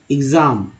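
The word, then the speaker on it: exam: कोई दिक्कत नहीं है, लेकिन कभी कभी वर्ड में ई एक्स से भी तो स्टार्ट होता है, जैसे कि यहाँ पर एग्ज़ाम, तो एग्ज़ाम होता है, या तो ई एक्स को एक्स बोलते हैं, या इक बोलते हैं, एक्स या इग्स, ठीक है, इस तरह से उच्चारण।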